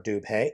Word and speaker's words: Dubhe: master like there is with Beachcomber transformation for dupay and yes I am pronouncing it correctly or at least that is